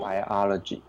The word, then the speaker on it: biology: how you pronounce it biology there you go it should be BA not by ideology ideology very good